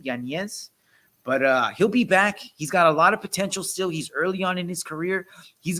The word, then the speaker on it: Yanez: I'm sure Yanez, I heard is how you pronounce his name, Yanez.